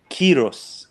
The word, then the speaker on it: Cyrus: pronunciation of it is Kiros because Cyrus comes from kurosh which is the actual name that we we Persians call it uh that became Cyrus